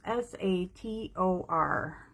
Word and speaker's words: Sator: So I'm going to find out from Google how to pronounce S-A-T-O-R. Solder. The word solder is pronounced sator. Sator. A Latin word.